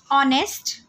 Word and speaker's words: honest: Honest, honor. Both these words begin with the phonic sound O, a vowel sound. Hence, we say an honest man. It's an honor because H is silent in these words.